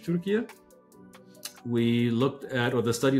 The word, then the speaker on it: Türkiye: One was Turkey, or Türkiye, forgive me. I think that's how we say it properly now in English, Türkiye.